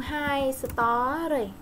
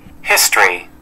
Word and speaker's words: history: Môn hai story. Đây, hai story. Mình giỡn nhau, phải đọc vậy nha. History.